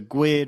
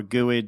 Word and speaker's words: GUID: broadcast that includes a GID or uuid or guid depending on how you want to pronounce it did you say GID like squid that's awesome that's how I've always pronounced it I don't know anyway